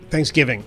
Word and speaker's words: Thanksgiving: into a debate about how you pronounce Thanksgiving where you put the accent on which syllable Bill puts it on the first I put it on the second John you're the tiebreaker Thanksgiving second second syllable Bill accentuates the first